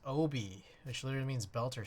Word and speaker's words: obi: Uh it's a Japanese word pronounced obi which literally means belter or sash.